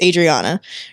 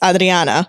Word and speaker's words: Adriana: could change because like my name in English is Adriana right but in Spanish it's it's Adriana so if you're saying